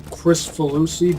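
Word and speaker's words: Kricfalusi: I think his name is pronounced John Cristofalusi, but it's spelled Crickfalusi.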